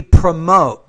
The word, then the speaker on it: promote: I would say we promote so put stress on that second syllable there not the first environment that welcomes celebrates